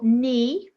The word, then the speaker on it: knee: Number 4, knee, an easy one this, it's a silent K.